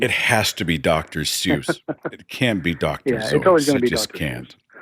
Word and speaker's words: Seuss: Zeiss it's a Bavarian name and of course the minute I read that I thought my whole life is a lie you know and it has to be dr. Seuss it can be doc